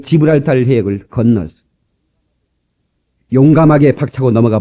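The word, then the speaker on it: Gibraltar: 1492년까지 스페인 영으로 스페인이 통치하고 있던 저 유명한 지브랄탈 발음을 잘해야 되겠죠. 지브랄탈 한번 해 봅시다.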